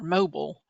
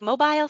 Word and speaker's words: Mobile: up smile mobile or mobile and I'm like no it's mobile it's no video mobile like mobile phone yeah like bile mobile it sounds like a